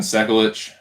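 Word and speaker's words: Sekulić: here but we got sukulich sekulich stefan sekulich stefan sekelich that's how you pronounce it thank you anik hey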